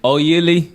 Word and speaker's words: Oyili: And Also together known- we're the Oyili Sisters. Oyili Sisters. Okay. Ooh. How you say it? Oyili? Oyili.